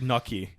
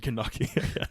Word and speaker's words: gnocchi: It's like gnocchi. Gnocchi. Gnocchi. Gnocchi is like, say it properly. Then Yeah. why put a G there?